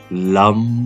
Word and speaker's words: लम: इसमें ध्यान रखें कि जो आप लम का उच्चारण करेंगे तो म को ज्यादा खींचना है, इस तरीके से लम।